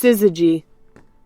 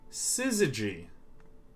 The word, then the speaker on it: syzygy: let's do it all right how do you pronounce this syzygy syzygy syzygy a conjunction or opposition especially of the